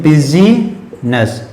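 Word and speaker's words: business: इस चीज को पढ़ते बिजी नस पिछले बिजनस लेकिन यहां पर आई जोबट होगा वह साइलेंट होगा इसको बिजनेस करते क्या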